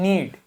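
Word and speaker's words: knead: फिर एन लिखा है तो के को प्रोनाउंस नहीं करेंगे क्या लिखा है नीड नीड मतलब गूथना किसी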